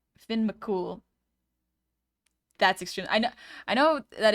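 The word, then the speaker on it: Fionn mac Cumhaill: Fionn Macomhill is pronounced Finn McCool.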